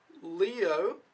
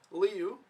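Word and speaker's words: 六: five and then you go leo no liu liu that's how you pronounce it liu sorry and that's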